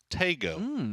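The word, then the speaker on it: Taego: got at what I have been told is pronounced Teo the new 8 by8 map that we have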